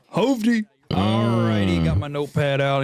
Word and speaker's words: Hovdy: It is pronounced Howdy, even though there are two V's in it, much like the band Always. Hovdy.